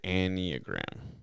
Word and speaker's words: Enneagram: But there's this thing called the Enneagram. Enneagram. I can never pronounce it right, and Ariel will kill me for it. But it's ENNEA gram.